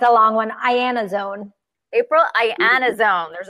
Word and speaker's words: Iannazzone: to mess it up it's a long one I Anna's own April I Anna's own there's a lot of